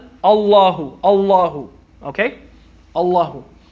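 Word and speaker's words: الله: with the castro and it's pronounced and it's written like a la who is not al Ilah hoo allah hoo allah hoo ok allah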